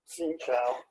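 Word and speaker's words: xin chào: Xin Chao. Yeah. X-I-N-C-H-O. Yeah. But it's very tonal.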